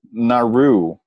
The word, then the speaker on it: Nauru: Nauru.